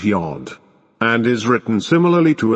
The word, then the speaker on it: yod: Your blessed 10th letter is pronounced Yod, and is written similarly to a 0 in Arabia.